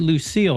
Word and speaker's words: Lucille: Is it you pronounce it Lucille, right?